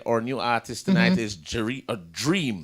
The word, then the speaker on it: Jreem: Our new artist tonight is Jreem. Dream. But spelled with a J.